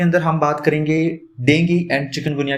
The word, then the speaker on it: dengue: तो सबसे पहले प्रोनाउंसिएशन, इसे डेंगू नहीं बोला जाता, एक्चुअली इसे डेंगी बोलते हैं।